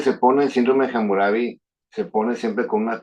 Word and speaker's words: Hammurabi: etiquetaron en otros países, pronuncian la H, entonces es hamurabi.